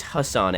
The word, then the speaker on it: Ghassan: I think it's Hassan, actually. It starts with a G, but I think it's pronounced Hassan.